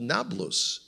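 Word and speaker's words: Nablus: say wait a second it's not called napolos now it's called nablos yeah because the Arabs in their language cannot pronounce AP they make it a b so in a country that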